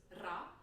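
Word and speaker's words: ر: The next sound that was foreign to me was ra. This is a rolled R. It's very, very common in the world's languages.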